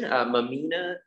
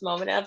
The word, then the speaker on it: Momina: Mamina, if you want to go ahead and unmute, we are ready for you to go ahead and ask. Hi, yeah. So it's actually pronounced Momina, but it's not that serious.